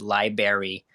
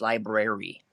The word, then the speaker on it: library: in the kindergarten that there's an extra R in the word library, my OCD never let anybody live the fact down that they pronounce it as library. Dude, there's an R there. It's library.